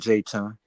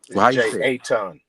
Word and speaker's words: Jeton: Jayton, I appreciate that. Check that out. That ain't how you say my name, man. But anyway, Jeton. Jeton. Jeton. That's how you say it.